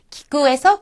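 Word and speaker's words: きく: 기구에서 키는 첫음이니까 키에 가깝게. 그 다음에 쿠라고 하는 것은 첫음이 아니잖아요. 그러니까 기구 하는 식으로 꾸에 가깝게 발음을 하시면 됩니다.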